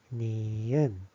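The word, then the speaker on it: 니은: nieun This one is like na, na. Which is n sounds, n na, na.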